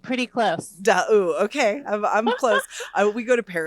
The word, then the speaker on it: D'Aoust: This is Maja D'Aoust. Did I say it right? D'Aoust, pretty close. D'Aoust.